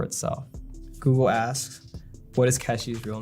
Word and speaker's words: Keshi: So whenever they said Casey, they would pronounce it Keshi.